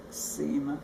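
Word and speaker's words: Simon: guinta semen which is which is spelled s-i-m-o-n and pronounce sema semen semen then contribute many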